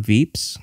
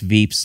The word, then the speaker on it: Veeps: No, this is a, it's, I think, I assume it's Veeps like VIPs, but they spell it V-E-P-S.